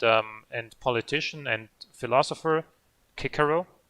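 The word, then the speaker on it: Cicero: and politician and philosopher kikero and that's how you actually say it at least if it's the latin pronunciation um the rear end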